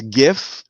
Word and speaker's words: GIF: it stands for graphics so you can't change the the acronym sound like you can't just be like that's the way I've always heard it though it don't matter you can't you can't change the the hard G sound of an acronym because of the I